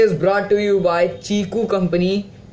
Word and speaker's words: Qiku: brought to You by chiku company q i KU U we pronounce it chiku instead of Kiku so chiku company which